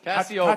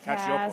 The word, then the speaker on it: Cacioppo: how's it pronounced? Cacioppo. Cacioppo, right? It's kind of Italian. It's Cacioppo.